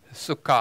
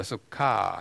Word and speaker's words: 수카: 좀 수카 아니고 수카 이건 길게 발음하는 모음부가 붙었기 때문입니다.